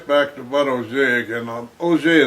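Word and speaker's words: Auge: O'Jay is spelled A-U-G-E, is French.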